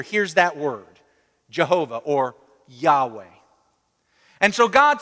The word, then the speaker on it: Yahweh: Scholars in the past few years have decided that probably it was more likely pronounced Yahweh. So I like to pronounce it that way.